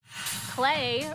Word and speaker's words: Clay: Clay rhymes with play, so that's why we're gonna draw him in a fun pose.